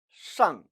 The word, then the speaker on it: 上: 어설프게 건설음하면 시의 앙 발음이 나와서 쌍이라고 해야 하는데 자칫 시의 양 발음이 나와서 사회에 불만 있는 발음 나올 수 있다고 했어요. 양이 아니라 앙 모음임에 주의하시기 바랍니다.